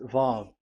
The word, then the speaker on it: Vav: So it's V as in Vogue. So it's really V. How to read Vogue? So the word, the shape Vav is really pronounced V, like Vogue. That is it, pronunciation. So here in this side, it's pronunciation. This is pronunciation. So according to the old Hebrew word today, those who, the owner of the words, I mean, so it's a V. So don't change it into W, and you will say